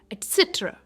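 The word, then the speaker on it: etcetera: इसकी प्रोनंसिएशन है ए से ट्र एटसेट्रा।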